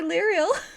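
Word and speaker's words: Lirehael: looking for um you're looking for liel oh so we're talking to right there I I I wish I was kidding except it's spelled l i r e h a e l we all we now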